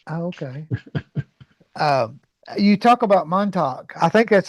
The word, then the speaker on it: Montauk: You talk about Montauk. I think that's how you pronounce it. Montauk, yes.